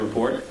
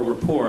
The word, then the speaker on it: Report: Tyson has been a frequent guest on the Colbert Report, or rapport, I guess is the proper pronunciation.